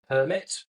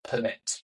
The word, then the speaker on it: permit: example of this is the word permit or permit. Spelled exactly the same way. No one ever sat you down and said, right, if it is a verb, the stress comes on the second syllable. If it is a noun, the stress comes on the first syllable.